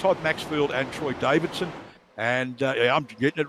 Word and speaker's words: Troy Davidson: I think it's Todd Maxfield and Troy Davidson. And I'm getting it right this week, Troy. I'm actually pronouncing the D. It's not silent.